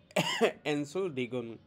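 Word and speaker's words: Entschuldigung: আমি উচ্চারণটাও লিখে দিছি হাল দেন হচ্ছে সেটার উচ্চারণ হবে এন্ড সল ডি গং তার মানে হচ্ছে এনসডিং মানে হচ্ছে এক্সকিউজ মি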